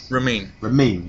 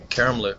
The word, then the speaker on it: Ramin Karimloo: I've forgotten how to pronounce it already. Ramin. Yes, sir. Ramin. Okay. See, that's why we dropped the last name. First name's hard enough. Ramin. What's the last name? Karimloo. Ramin Karimloo.